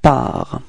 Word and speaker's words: pars: First person of the singular, it's je, and then we get this je pars. Okay, so it's ending with a S, but then we don't pronounce it, so je pars.